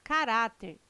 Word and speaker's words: caráter: Presentes no texto, os vocábulos caráter, intransferível e órgãos são acentuados em decorrência da regra gramatical que classifica as palavras paroxítonas. Item correto. Caráter, intransferível e órgãos têm sua sílaba tônica na penúltima sílaba.